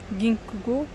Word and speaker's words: Ginkgo: Ginkgo, ouais, c'est comme ça que ça se prononce.